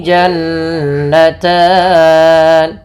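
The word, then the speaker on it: جَنَّتَانِ: Kemudian pelafal jannatan ada nun berharakat tasydid. Maka ini kita namakan dengan ghunah. Bacaan ghunah yaitu suara nunnya ditahan dua harakat. Jannatan. Jannatan. Jangan langsung jannatan.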